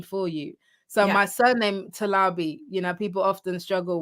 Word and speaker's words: Talabi: recording it on there so it's like so you hear it you know exactly how to pronounce my name so if we're doing a